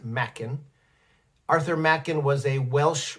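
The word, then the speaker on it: Machen: Now, I used to pronounce him mistakenly Mockin, but apparently it's pronounced Mackin.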